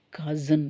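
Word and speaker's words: cousin: கசி இன் எழுதி இருக்கேன் கசின்னு சொல்லக்கூடாது ஏன்னா எஸ் வந்து இங்க ஜெட் வந்து ப்ரொனௌன்ஸ் பண்ணனும் உச்சரிக்கணும் ஏன்னா எஸ் முன்னாடி ஒரு வாவ் யூ வந்திருக்கு எஸ் அப்புறம் ஐ ன்னு ஒரு வாவ் வந்திருக்கு ரெண்டு வால்க்கு நடுவுல எஸ் எஸ் வந்துச்சுன்னு சொன்னா எஸ் வந்து ஜெட் ன்னு சொல்லுவோம் zன்னு சொல்லுவோம் இல்லைங்களா அதனால கசின் அது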